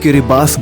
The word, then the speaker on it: Kiribati: गिरी बाटी जाता है लेकिन यहां के लोग देश को किरबास बोलते हैं क्योंकि गिरी बातें की लोकल लैंग्वेज में टी को एफ के तोर पर प्रोनाउंस किया जाता है इसीलिए हम भी